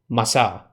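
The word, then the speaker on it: Massah: he called the place masa and Mareeba I'm pretty sure you didn't say it like it's Spanish masa masa means tasting Mareeba means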